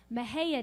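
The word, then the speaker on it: Mexia: there's a there's a little town in Texas called Mejia Texas and it's pretty hard to spell it spelled MEA x IA and there happened to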